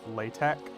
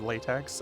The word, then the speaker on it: LaTeX: how to use latex it is a thing but it's pronounced latek oh if you know do you know how to use latex oh uh and what